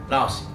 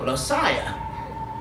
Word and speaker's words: Lossiah: Lossie. And it's spelled Lossiah. When you read that on paper, you think of Losiah, not Lossie.